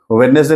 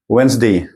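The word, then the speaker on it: Wednesday: रहा है ठीक है तो वेडनेसडे नहीं है क्या है वेनसडे क्या है वेनसडे वेडनेसडे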